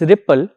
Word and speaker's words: RPL: iot is the RPL RPL pronounced as Ripple is the acronym for